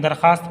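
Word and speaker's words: درخواست: और इसरार के साथ दरखास्त की दरखास्त लिखा जाता है लेकिन दरखास्त पढ़िए वाव की आवाज साइलेंट ी और इसरार के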